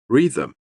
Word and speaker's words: rhythm: Rhythm. H. The first H.